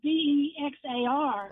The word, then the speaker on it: Bexar: because I grew up in San Antonio, so I know Bexar County, and yeah, it's Bexa. It's like Why they throw an X in there just to screw with people?